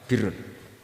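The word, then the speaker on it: بِرّ: Ya kalau di isim fa'ilnya umumnya guru-guru kita baca barrin, tapi untuk masdarnya untuk kebaikan bacanya apa? Birrun. Nanti kamu protes, oh barun itu daratan Gus, kalau birun itu kebaikan.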